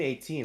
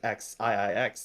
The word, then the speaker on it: XIIX: We've got the 10th ranked team here, Team 18. I just learned how to pronounce it. I've been pronouncing it X IIIX this entire time.